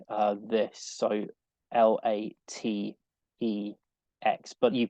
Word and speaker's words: LaTeX: uh and it's spelled like uh this so l-a-t-e-x but you pronounce it latex um now it's kind of